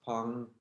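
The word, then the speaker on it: peng: side maintain this open roundness this pen or pong structure pronounced pong it's spelled png so that when you turn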